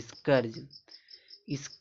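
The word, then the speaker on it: scourge: इसको इसको इसको नहीं पढ़ेंगे इसको स्कर पढ़ेंगे स्करर्ज मतलब विपत्ति होता है।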